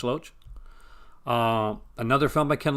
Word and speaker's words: Loach: spell pronounced all right is it loach did i get that right like rhymes with roach loach um another film by